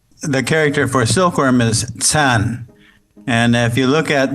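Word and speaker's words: 蚕: from silk worms the character for silkworm is tan and if you look at the traditional character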